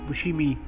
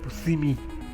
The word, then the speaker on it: Buscemi: Somebody said that you're not supposed to pronounce Steve Buscemi like that. You're supposed to say Buscemi.